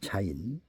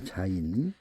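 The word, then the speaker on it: זין: 발음은 자인이라고 있습니다. 자인 상형 그림은 농부가 들고 있는 낮이나 농기구를 의미한다. 그리고 땅을 가르는 파는 쟁기질하는 그런 도구를 말씀합니다. 자인 농부가 씨를 심으려면 먼저 땅을 갈라야 파야 쟁기질하여야 합니다.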